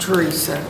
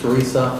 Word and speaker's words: Teresa: Excuse me, sir, it's pronounced Teresa. It's Teresa?